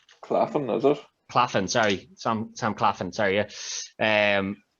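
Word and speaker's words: Claflin: in someone that Carl has used before, Sam Claffia, I think is how you say his name. Claffin, is it? Claffin, sorry, Sam Claffin, sorry, yeah.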